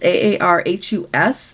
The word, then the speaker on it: Aarhus: They were going to go there first due to weather, and they are now missing Aarhus. It's Aarhus there.